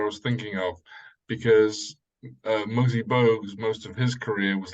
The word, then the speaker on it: Muggsy Bogues: Oh, the correct pronunciation for the basketball player, for Gwen's reference mainly, is Muggsy Bogues. Yes. Okay. Muggsy Bogues.